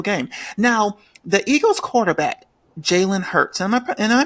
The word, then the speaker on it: Jalen Hurts: Now, the Eagles quarterback, Jalen Hurts, am I pronouncing his name correctly?